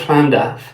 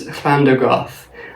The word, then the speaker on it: Llandaff: Because there are many records, all from the Book of Llandaff, about Athrois and his family giving donations of